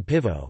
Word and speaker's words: pîvo: Examples are short falling as in nebo, sky, nebo, long falling as in pivo, beer, pi circumflex vo, short rising as in mascara, eye makeup, mascara, long rising as in cocolata, chocolate, tea, oko el da.